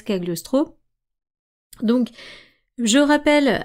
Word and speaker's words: Cagliostro: Donc je le prononce à la française Kagliostro.